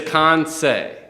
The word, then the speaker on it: Kansei: So it is Kansei. Kansei. Okay. Like Jose Canseco.